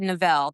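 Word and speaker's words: Navle: So, you said novel, that's how you say it.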